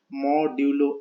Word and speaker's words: modulo: Okay, it is pronounced as modulo, M-O-D-U-L-O, modulo operator.